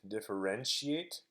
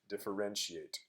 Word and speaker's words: differentiate: for the word differentiate differentiate so notice that the this part of the word the ti is pronounced like an sh actually it's pronounced like